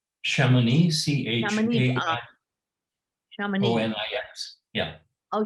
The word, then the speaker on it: Chamonix: live so I get an idea how to pronounce it correctly? Chamonix, Chamonix.